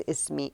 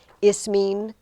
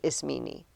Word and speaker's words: Ismene: Greeks and Romans had no silent E. You know, the whole English silent E where it makes the other vowel long and you don't pronounce. Every syllable gets pronounced when you run into these words. So she's Ismene instead of Ismene. That's how we would say it in English. But she's Ismene.